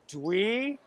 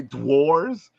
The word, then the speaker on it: Dweores: it's called Dweors. Dweors. Shen, I feel you because my Brooklyn accent was making me say dwarves. So I have to go Dweors.